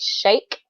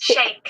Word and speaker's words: Sheikh: was better me personally I would say shake like to shake a hand but that's also I think a mispronunciation it probably is closer to shake but this word is